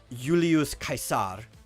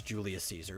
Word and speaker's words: Julius Caesar: about if I'm talking about the historical figure Julius kaisar I would prefer to say his name properly but if we're talking about the character based off of him in Shakespeare's play it's Julius Caesar because he his whole play was in English